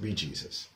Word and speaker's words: bejesus: We don't want to say the dirty words and we're saying a word that formed from by Jesus, but it's actually pronounced Bejesus.